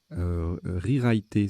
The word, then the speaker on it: rewriter: Rewriter, ça se prononce comme ça, R-E-W-R-I-T-E-R.